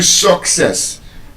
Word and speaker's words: success: So you don't say I wish you success. henceforth we should say, I wish you success. And the reason it is pronounced that way is because, again, that schwa sound appears in the first syllable.